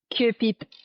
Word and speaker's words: Curepipe: Hey, so we're going to jump in, and I'm going to butcher the pronunciation of this. Is it Curepipe or Curepipe? How do I, for your hometown? Curepipe.